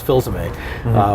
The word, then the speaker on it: Filsaime: to your website, and the way I used to pronounce my name back then was Filsaime, but I knew online that would never work. It's French.